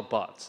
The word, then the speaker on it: Barth: thing I'm going to do is correct my pronunciation of his name because it's not bath it's actually but like but Simpson but okay so not daf Vader bath the but but Simpson but okay so Carl Bots is the way the correct way to pronounce